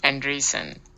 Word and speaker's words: Andreessen: Let's see how we pronounce that name. Mark Andreessen.